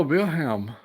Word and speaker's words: Wilhelm: Oh, in German, pronounced Wilhelm. Oh, Wilhelm.